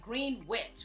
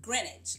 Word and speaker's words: Greenwich: always say it wrong I always want to say like green witch but it's Greenwich oh I think I